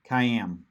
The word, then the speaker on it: kiam: All right, so what we'll look at here is, all right, Joseph is saying it's pronounced like Miami, Kiam. Kiami.